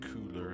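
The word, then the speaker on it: Köhler: Coler or cooler in in German it's actually pronounced cooler I think but looks like set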